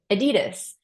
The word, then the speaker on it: Adidas: you will hate, but in the US we say Adidas. And I believe that is not the way it is pronounced in other countries. I think it's Adidas. I don't know.